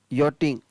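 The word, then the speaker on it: yachting: दूसरा है YACSTING, यॉटिंग, इसमें भी CS का उच्चारण नहीं हो रहा है।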